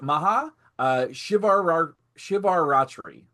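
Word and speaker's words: Maha Shivaratri: The it is maha uh shivar shivar ratri shivar ratri.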